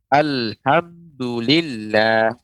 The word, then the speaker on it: Alhamdulillah: dibaca tarqiq yaitu tipis lafadz Allah dibaca tipis Bagaimana pada contoh misalnya Alhamdulillah bukan Alhamdulillah makanya keliru Nah ini maksud dari